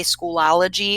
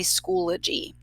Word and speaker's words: Schoology: So a lot of people mispronounce this. They say Schoology. It's actually Schoology.